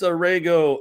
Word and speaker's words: Aragao: And that somebody today is Rego. I forgot to like confirm it with you on the pronunciation, but you just nailed it.